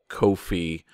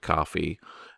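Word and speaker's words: Ko-fi: been connected to like Kofi which I guess is pronounced coffee and Libre or pay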